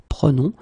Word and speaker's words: prenons: Okay, keep in mind that you should pronounce it prenons, vous prenez, and then the last one, the tricky one, ils prennent. Okay, ils prennent. All right. So basically, remember that prenons, prenez, and then prennent will be different as